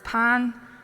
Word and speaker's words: pain: But I'm um the the word for bread is pan in in in in French and it is spelled like pain.